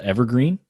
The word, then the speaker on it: EVRGRN: So if you don't know, a little plug for that, I started a business called Evergreen, and it's spelled weird.